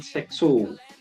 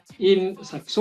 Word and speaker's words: Saxo: Ini teman-teman kalau di chart perhatikan ada tulisan Saxo. Saxo atau Saxo bacanya ya.